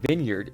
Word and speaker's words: vineyard: the exact opposite problems the VIN in Vineyard should be pronounced Vine and the VIN in